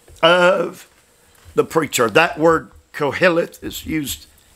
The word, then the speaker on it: Koheleth: I'm going to pronounce it for you. Koheleth. Q-O-H-E-L-E-T-H. Koheleth.